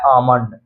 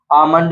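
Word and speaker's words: almond: इसलिए L silent है इसी तरह है आमंड आमंड में भी आप देख सकते हैं एम से पहले एल आया इसलिए एल साइलेंट है एन साइलेंट यानी एन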